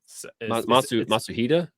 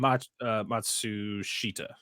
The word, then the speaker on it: Matsushita: Oh God, what's that say his name? Matsuhita. Is that it? Matsushita. Matsushita, there you go.